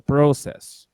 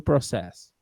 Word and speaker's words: process: Agora eu vou pôr o to process. To process. To process. Sentiram a diferença? Ela é pouca, mas existe. Perceberam mesmo? Tio. Sim. Uhum. Sass. No verbo, a sílaba tônica é sass. E no substantivo, a sílaba tônica é pro. Pro.